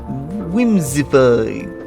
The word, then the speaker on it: Whimsifay: Whimsify. That's how it's pronounced. But it's spelled Whimsifay. I'm not reading that as letters.